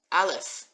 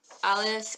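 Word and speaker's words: אלף: And if you picture the Aleph as like just all arms and legs, it helps you remember that it's a silent letter.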